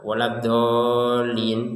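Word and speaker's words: ولا الضالين: Nah, kalau kita baca tanpa tasdid wal din itu enggak ada tasydid itu berarti. Nah, waladolin padahal ada tasdid. Jadi, waladin ini ada tiga yang perlu diperhatikan. Pertama, tasdid huruf dhad. Kemudian panjangnya huruf dod, dan yang ketiga adalah tasydid untuk huruf lam.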